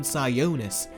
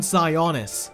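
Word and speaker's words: Sionis: name pronunciations as they keep calling him roman scionis it's scionis roman cyonus get it right what they did to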